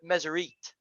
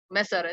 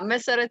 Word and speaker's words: Meseret: Spider-Man Riza say Teacher Mesrit. I think because I mean Risa, because he speaks French, I guess. I mean it's the how you are pronouncing it. That's the right way. Meseret.